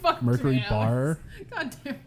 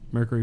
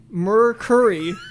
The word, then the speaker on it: Mercury: the difference here mercury there is an eye noise that we keep adding that you don't it's a humanoid yeah